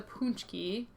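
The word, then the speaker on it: pączki: Okay, a little bit more about the punchki, again, which is spelled this way.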